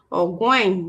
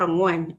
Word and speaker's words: Ogwen: Ongwen, Ogwen, not Ongwen. Ogwen, if I'm pronouncing his name wrong, it's spelled Ogwen, not Ongwen, okay?